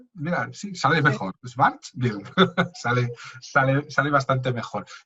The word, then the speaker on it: Schwarzschild: también por la teoría de la relatividad, que Schwarzschild, que nunca consigo pronunciar esa palabra, de verdad.